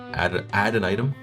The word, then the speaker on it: Adtonitum: Adtonitum. Apparently, according to one commenter, Ed Beard apparently pronounces it add an item, Yeah.